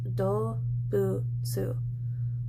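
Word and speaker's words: 動物: You would pronounce this dobutsu.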